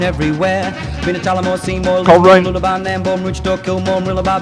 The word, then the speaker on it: Coleraine: First question that we must ask you, Lisa, as a local, Coleraine or Coleraine? Hello, 2 syllables only.